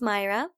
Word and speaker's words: Mayra: only because i'm hispanic my name is pronounced myra and it's spelled m-a-y-r-a m-a-y-r-a yeah also if